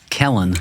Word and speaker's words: Cellan: Kellen.